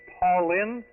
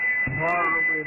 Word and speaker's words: Parlin: It sounded like you were saying Paulin, but maybe you can come back and give that to us phonetically. Okay, Colvin, Papa, Alpha Romeo, Lima, India, November. Parlin, New Jersey.